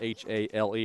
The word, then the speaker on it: Hale: I mean that H-A-L-E. I'm not pronouncing that in a southern way. So it's Hale, yes, in the game.